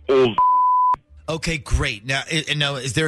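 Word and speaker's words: Olsk: It's O-L-S-K, but it's pronounced old.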